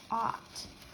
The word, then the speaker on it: ought: It's the letters or spelling that stands for one sound, ah, but it's being spelled with 4 different letters. Ought.